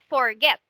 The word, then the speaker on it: forget: vowel consonant and the final syllable is stress so you forget we say forget so there is a stressed when we are pronouncing the word forget right so that's why